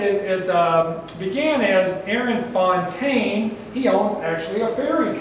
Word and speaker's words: Fontaine: So, first let's talk about how fountain fairy is pronounced. Fountain or fontain. Not certain how it got fontine. Yeah. Named f. Why we call it fountain when it's actually spelled Fontaine, but it is what it is.